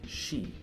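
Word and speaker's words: 四: The number 4 in Japan, if you're not aware, is very superstitious and often avoided, as it can be pronounced as she, the word for death.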